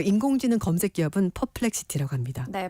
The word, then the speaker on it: 퍼플렉시티: 뉴스 함께 살펴볼게요네 그 전에 제가 앞에 잠깐 발음을 잘못해가지고 수정하겠습니다 그 인공지능 검색 기업은 퍼플렉시티 합니다네 퍼플렉시티 알겠습니다네 고유 명사인데 죄송합니다네 자 첫 번째 키워드입니다